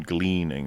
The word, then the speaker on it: gleaning: Like like how are you not how are you not gleaming anything from that? You mean gleaning, right? Gleaning. Yeah. I think have I been saying it wrong all these years?